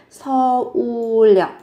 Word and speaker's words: 서울역: Phát âm là 서울역. Phát âm dùng âm L.